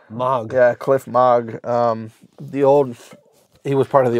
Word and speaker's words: Moog: sound and then these uh how do you pronounce is this m MOG yeah cliff MOG um the old he was